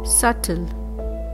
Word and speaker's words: subtle: Subtle. Again, B is silent.